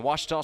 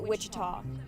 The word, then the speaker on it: Ouachita: come back this is Tiger baseball on the washto sports digital Network presented by Taylor King law